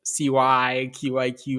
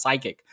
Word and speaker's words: CYQIQ: probably are looking at it as you know Cy qiq I did that the first time too but then uh Richard was gracious enough to kind of let me know hey it's pronounced as psychic so we might have something to talk about